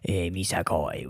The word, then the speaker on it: Missisquoi: traveled on the Underground Railroad, and it is pronounced Missisquoi River. Is that a perfect impression of the French guy who says how to pronounce things? It is, except he would call it Missisquoi.